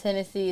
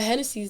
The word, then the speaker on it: Hennessy: So Genesis is like the beginning of the Bible, and in Spanish it's Hennessy. So a lot of parents name their kids Genesis, but my mom named me Hennessy.